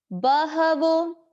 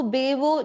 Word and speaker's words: बहवो: बहवो, इसको बेवो जो भी हम बोलते हैं, इसमें ह का उच्चारण हमको शुद्ध लेना है।